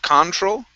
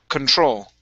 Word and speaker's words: control: So the stress is at the very end instead of control. Control. Control.